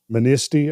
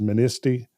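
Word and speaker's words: Manistee: across lake michigan uh is it ministy i believe is how it's pronounced ministy um there was a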